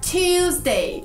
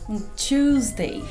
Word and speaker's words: Tuesday: Tuesday. É a forma que eu diria. E eles diriam? Tuesday. Então aqui, o seu T não precisa ser claro. Pode ser tchu. Tuesday.